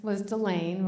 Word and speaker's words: Delane: Her name was Delane, rhymes with Elaine.